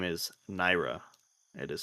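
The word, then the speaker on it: Nyra: The name is Naira. It is spelled N Y R A.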